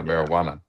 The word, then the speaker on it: marijuana: And I'm wondering, do y'all think that it's silent or not? No. I think I think the J the J pretty much live in it. Yeah. Marijuana. Marijuana. Yeah. Marijuana. Okay. Mary Jane. It's like saying that the Jay and Juan is silent.